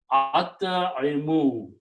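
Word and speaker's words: أطعموا: When you combine and pronounce together, pronunciation will be at'imu.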